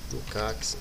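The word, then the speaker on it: Lukács: é o georg lucat Alguns vão pronunciar Luca né outros vão a fazer uso de uma pronúncia brasileirada né que é lucx enfim eu vou tomar a liberdade de usar uma a pronúncia lucat Então veja só quem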